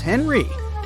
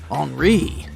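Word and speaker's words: Henri: And this is Henry, but it's more correct to pronounce his name as Enri since he's French.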